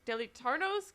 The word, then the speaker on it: deleitarnos: Deleitarnos con tan hermosa música. Felicidades. Did I say that right? Yeah. Deleitarnos. Did I pronounce that correctly? Yes, very nice.